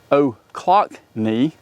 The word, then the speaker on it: Ochlocknee: decided that these, which I've now practiced the pronunciation on, they are Ochlocknee.